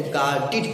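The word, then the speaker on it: guarded: अगर इसमें ईडी जोड़ दे तो क्या उसका प्रोनाउंसिएशन एड होगा, नहीं नहीं मेरे भाई, एड नहीं होगा, इसका प्रोनाउंसिएशन ईड होगा।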